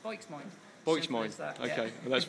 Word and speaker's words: Boikzmoind: It's if you say it phonetically, it's instant Bristolian, just Boikzmoind.